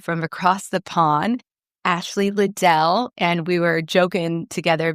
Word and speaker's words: Liddell: I'm here with another friend from across the pond, Ashley Liddell, and we were joking together because we both have similar pronunciations of our last name, very fancy at the end in that second syllable.